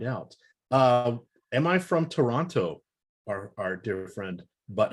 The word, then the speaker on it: Toronto: pronounced the second t people from toronto pronounce it toronto without pronouncing the second t it's not toronto up there it's toronto interesting now t-dot i